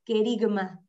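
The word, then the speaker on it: kerygma: que dijiste que se llamaba el kerigma esto se escribe con k e r y g m a kerigma el querigma de hecho cuando hablan de una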